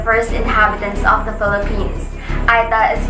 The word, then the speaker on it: Aeta: to be the first inhabitants of the philippines aida is pronounced they are indigenous and their ancestors were